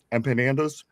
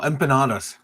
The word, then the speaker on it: empanadas: Um, how do how do you pronounce these? Empandas. Empanandas. Oh, empanadas.